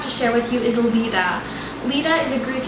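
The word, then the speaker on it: Leda: love the meaning uh you can also pronounce this name Le although I personally prefer the pronunciation Lita the name Lita was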